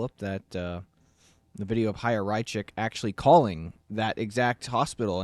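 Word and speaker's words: Chaya Raichik: Haya Rychik.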